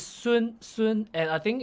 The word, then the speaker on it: Sng: sun so it's soon soon and i think it's more it sounds it's supposed to sound a bit more flat like soon and the how goes